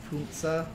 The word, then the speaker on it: Panzer: When will people realize that Panzer is pronounced Punza?